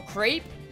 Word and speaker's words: crepe: place to do it it's like Cape with an R so crepe that's how you say it it's just super it's straight but it's belt creep cuz I've heard the